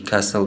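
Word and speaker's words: castle: है वेनसडे में डी कसल में टी थम में बी है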